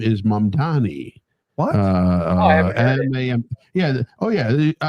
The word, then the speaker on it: Mamdani: Here it is, Mamdani song.